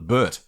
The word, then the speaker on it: Albert: australians just abbreviated and they just called it burt so that suggested to me that they were calling it albert not albert so i love the